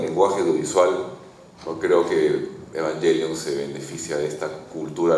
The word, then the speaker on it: Evangelion: está hecho, o sea, Evangelion tiene evangelion porque lo pronuncian en griego, en japonés lo pronuncian en griego. Evangelion, así como como Tadeo lo est lo estaba pronunciando, que es la pronunciación griega, ¿no?